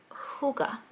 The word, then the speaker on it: hygge: too and it's called the little book of hygge so that's how you pronounce it i learned how to pronounce it